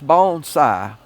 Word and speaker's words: bonsai: And bonsai bone, it's bonesai. It's pronounced. It means is that two different words added together? Uh two different words added together. Okay. Uh bone bone like a bone sigh and it um it